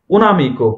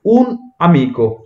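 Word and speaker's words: un amico: তো এখানে মনে রাখবেন যে এখানে একটা গ্যাপ থাকবে, যেমন হচ্ছে উন তাবলো, যদি ভোকালে না থাকে এক্ষেত্রে কিন্তু আমরা এইভাবে উচ্চারণ, কিন্তু অনেকে উচ্চারণ করে হচ্ছে উনামিকো, উনামিকো না, এটা হচ্ছে উন আমিকো।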